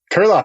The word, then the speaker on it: Curelop: Is it Curelop or Curelop? Yeah. Curelop, you said it right.